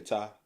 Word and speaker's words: Thai: You say Thai. Some people say thigh. I swear I've heard people say it.